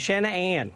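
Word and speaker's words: Shann'Ann: her it was always Shannon Ann like and I'd break it up into two syllables and two separate things you know um so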